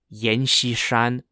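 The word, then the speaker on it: Yan Xishan: when he was young he joined the shanxi army which was an Army led by a warlord named Yen shishan Yen spelled y-a-n-x-i-s-h-a-n and fuzzoyi quickly rose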